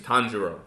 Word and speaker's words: Tanjiro: It's Tanjiro.